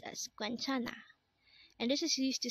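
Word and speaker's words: 괜찮아: means to smile or laugh next word is quentana again this is pronounced as guenchana and this is used to say it's okay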